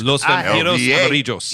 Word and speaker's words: Los Vampiros Amarillos: Los Vampiros Amarillos. Yeah, there you see. You do the double L.